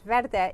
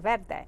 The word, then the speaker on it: Verde: verde architecture consulting and you pronounce verde just like salsa verde and it means green